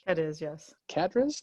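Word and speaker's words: Cádiz: born in Spain hris right had is yes cadis cadis cadis c a d i z didn't pronounce properly say Massachusetts go ahead Massachusetts nope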